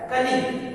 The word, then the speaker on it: colleague: उसी तरह से है दूसरा लेटर है, दूसरा वर्ड है कलीग, COLLEAGUE, यहाँ जी के बाद यू है इसलिए यहाँ यू साइलेंट है, यह हो गया कलीग।